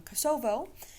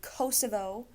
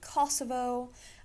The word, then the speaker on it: Kosovo: correctly apparently i always thought it was um kosovo looked it up and that is not correct standard english pronunciation would be kosovo if you're british you can get away with saying kosovo albanians like to call it kosova um and